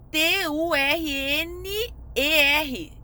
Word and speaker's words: Turner: assim nos de turner escreve t u r n e r é tuner escrito mas você pronuncia turner essa síndrome você vai